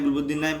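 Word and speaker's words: Gulbadin Naib: ভাগ্যিস গুলাবুদ্দিন নাইব, আমার ওকে হেভি লাগে, চেষ্টা হয় মারাত্মক।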